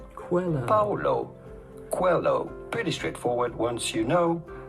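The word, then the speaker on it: Paulo Coelho: to pronounce that how do you go about pronouncing his name Paulo Quello quo Paulo Quello pretty straightforward once you know Paulo qu hello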